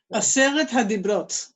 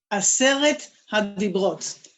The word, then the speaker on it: Aseret HaDibrot: Pronounce that for them and then tell them what. Why not? Aseret Hadibrot. Say it. Aseret Hadibrot.